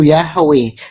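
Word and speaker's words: Yahweh: Yang paling tepat pengucapannya itu Yahwe.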